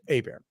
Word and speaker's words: Hebert: so to be clear my last name is actually spelled Hebert there's no first R okay and yes it's pronounced a bear all right let's go